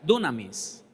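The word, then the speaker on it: δύναμις: Más bien se pronuncia dunamis.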